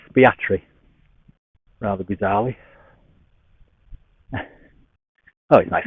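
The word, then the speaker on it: Aspatria: this Village I think spell espatria but pronounced locally as fiatry rather bizarrely oh he's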